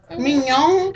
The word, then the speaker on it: Mignon: Oh, did anybody notice that Erica's mother was named Mignon? Who? It's spelled like Erica's mama? it's spelled just like a filet mignon. Mignon?